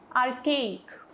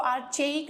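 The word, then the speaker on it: archaic: तो ये क्या है अच्छा इसको सी एच को ना क ऐसे प्रोनाउंस करेंगे इसको आर चक नहीं बोलेंगे इट्स आर्कक आर्कक ये हो जाएगा तो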